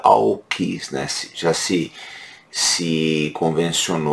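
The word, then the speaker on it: AUKUS: que se escreve à Upa Oeste mas se pronuncia ao quis nesse já se se convencionar ou essa pronúncia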